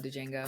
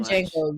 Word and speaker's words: Django: movie I really love Django phenomenal love it but we watch it a little bit said Jango you said Django she say Django on purpose I say Django he said the D is silent the D is it